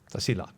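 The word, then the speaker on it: Tasiilaq: north there's right so we're talking about t pronounce it for me properly tasil yeah okay and and you were in tasil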